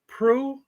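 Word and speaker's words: Proulx: go name is Warren pro pro p r o u LX how do you say p r o u LX just like that p r o u LX sounds like PR right Warren Warren PR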